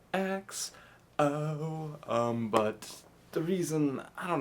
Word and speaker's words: XO: It was just like, and you can't say it like EXO, you gotta say it like XO, but the reason, I